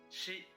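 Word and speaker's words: シ: but it doesn't hurt she she pronounced like she like in the word sheep and you know the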